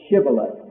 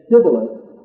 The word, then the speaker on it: shibboleth: he replied no they said all right say shibboleth if he said sybilis this is in chapter 12 verse 6.